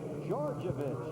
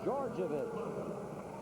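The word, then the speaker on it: Djordjevic: Called on Georgievich, and that's the way it is pronounced. It is spelled D-J-O-R-D-J-E-V-I-C. It's pronounced Georgievich.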